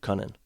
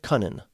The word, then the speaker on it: Kunin: And they traded that to San Jose for Luke Kunin. I think that's how you say his name, Kunin, not Kunin.